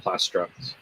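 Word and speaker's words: Plastruct: Also, Thomas says, is it Plastruck? Plastruck? Is that the way to pronounce it? Yep.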